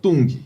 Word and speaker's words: Zedong: corrente de pronunciar porque na escola me ensinaram Tung e hoje eu ouço zedong Hã Tem até toda